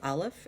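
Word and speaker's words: אלף: make its own sound it is a silent letter there are two silent letters in Hebrew this silent letter is called Aleph it's the first letter in the alphabet it does not make its own sound it only makes a sound if it is paired with a vowel so here we're gonna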